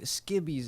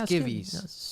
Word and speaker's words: skivvies: By the way, skibbies, is that how you say it? Or is it Yeah, skivvies? Skivvies. Skivvies, yeah. Skivvies, okay. Yeah, Skivvies.